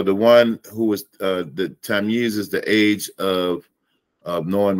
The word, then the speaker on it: Tamyiz: Tamyiz. Tamyiz. Not Tamyiz. Tamyiz. Yeez, like Yeezy. Yeah. Yeah. Okay. Tamyiz. Got it. Yeah. And so the one who is the Tamyiz is the age of knowing right from wrong, right?